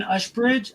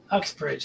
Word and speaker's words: Uxbridge: Ushbridge, is that how you say it? It's close enough, I think. Cool. Uxbridge, okay. In fact, that's what I heard you say. So Yeah. I think I used a little SH sound instead of an X,